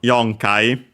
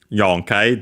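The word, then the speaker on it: 四回: I remember correctly that in the case of Yong Kai is before Kai.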